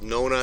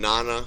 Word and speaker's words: nona: For 9, I've heard it pronounced with nona and nana, whatever your preference is, works great.